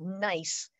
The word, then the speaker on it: gneiss: but a category called nice the g is silent and it's very highly